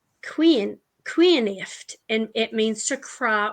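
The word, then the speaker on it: caoineadh: Okay, well, it comes from a Gaelic word that is pronounced cuinift, and it means to cry or to weep.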